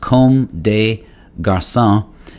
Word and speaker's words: Comme des Garçons: uh often referred to as cdg it is pronounced com de garcia and that means like boys in french but